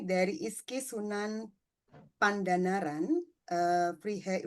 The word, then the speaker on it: Vrije: Mbak Anis ini dari ISKI Sunan Pandanaran eh Freehe Universitet gitu bacanya ya. Bahasa Belanda bacanya freak. Bacanya fre. Oke. Oke. Fre universitet gitu ya, Amsterdam.